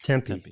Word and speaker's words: Tempe: hail from Tempe Arizona is it Tempe is that how you pronounce Tempe I think Tempe that's right that's right Tempe didn't sound right that's a food um Tempe um though